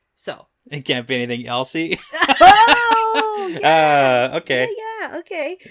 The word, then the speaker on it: Elsie: Some people say Elsie. Okay. But this is I-E. Yeah. This is clearly Elsie. Elsie. This can't be anything else. So. It can't be anything Elsie.